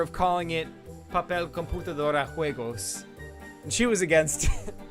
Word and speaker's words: juego: That would be like, well, paper is papel, computer is computadora, and game is juego, spelled with a J. It's Juego, juego.